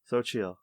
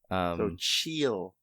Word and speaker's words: Xochitl: It's Sochi, isn't it? Sophia Gomez. Okay. Okay. Xochitl. That's how you pronounce her name. Xochitl Gomez. All right. So chill, not so chill.